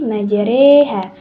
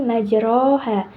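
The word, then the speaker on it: مجراها: dengan Bismillahi majreha Bismillahi majreha jadi rnya dibaca dengan e ya Bukan dibaca dengan fathah untuk sekali lagi baca cara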